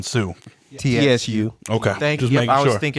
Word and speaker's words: Tsu: I feel it because I hate silent letters, so Yeah, I do it on purpose. It's not even silent. Tsu.